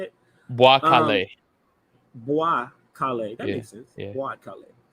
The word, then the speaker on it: Bwa Kale: Bwa Kale.